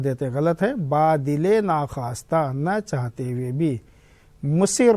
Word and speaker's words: با دل ناخواستہ: بوجھ۔ با دل ناخواستہ، یہ لفظ ذرا بچوں اچھی طرح سے یاد رکھنا، تلفظ اس کا صحیح کرنا۔ با دل ناخواستہ، نہ چاہتے ہوئے بھی یعنی مجبوری میں۔ عموماً لوگ کیا کرتے ہیں، اس کو پڑھنے میں غلطی کرتے ہیں، بادل ناخواستہ پڑھ دیتے ہیں، غلط ہے۔